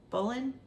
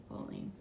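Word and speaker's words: Boleyn: by the Primitive hair how do you say that b o l e y n bowling bowling so it's close I also have another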